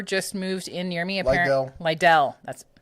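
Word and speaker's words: Lidl: Lidell. That's Lidell.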